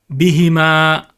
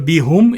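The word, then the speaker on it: بِهِمْ: And of course, bihima. Now this one changes again for phonetic reason because there's a kasra before it. And instead of bihum, it becomes bihim.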